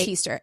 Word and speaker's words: Heaster: zona uh hester easter easter how do you spell it it's easter h-e-a-s-t-e-r yeah elva zona heaster she went by